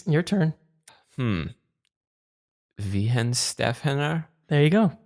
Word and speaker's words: Weihenstephaner: Weihenstephaner?